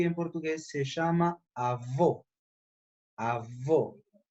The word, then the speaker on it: avô: Avô. É com uma pronúncia fechada, cerrada.